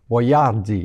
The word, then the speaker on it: Boiardi: le chef etori boyardi la pronon prononciation à l'italienne étant différente de celle qui a été adoptée pour les produits américains probement probablement que c'est sur les ses produit il avait mis son nom tel qui est écrit les Américains auraient prononcé Boyard d'il ou quelque chose comm ça c'est exactement ce